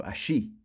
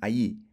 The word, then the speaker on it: allí: And if we were in Uruguay or Argentina, remember the double L sound is pronounced sh, so allí. But for the rest of the Spanish speakers, allí.